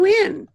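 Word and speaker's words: Nguyen: And Ngui, Win, I think is the way you pronounce it. Is it? Yeah. Yes. Well, hello, Win.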